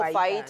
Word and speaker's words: fajitas: The spelling is fajitas, but the pronunciation is Oh, fajitas.